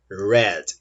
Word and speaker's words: read: é o verbo ler ele tem a mesma escrita só que a pronúncia muda eu presente de camisa assim o verbo fica rye no passado a pronúncia é head mas é inscrito é mesmo tá bom vamos ver